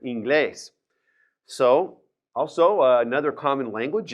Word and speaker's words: inglés: There's an accent on that E right there, inglés.